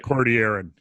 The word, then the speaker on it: Cordilleran: that exactly and and the double L is like a Y Cordilleran yeah well is a